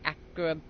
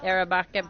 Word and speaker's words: Arabica: Maybe the A is one of the A's is quiet, and it's Akrabuka. It's like you kind of want to say Arabic. Yeah, Arabica, but I think the